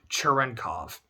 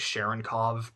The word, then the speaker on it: Cherenkov: But Andrew Cherenkov, who I kept pronouncing as Sharonkov personally, just because I know Clay has a character in one of his stories whose last name is Sharonkov, and that's how it's pronounced.